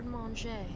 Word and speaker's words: garde manger: How is this a 1-minute video for how to say garde manger? Garde manger.